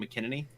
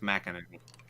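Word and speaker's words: McEnany: which by the way i had said her name wrong like a bunch i heard i kept saying mckinnony oh just apparently it's mac energy yeah oops apparently it's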